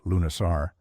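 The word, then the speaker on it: Lughnasadh: Lugnasad, pronounced Lunasar, was the Celtic festival dedicated to Lug, the god of light, skill, and battle.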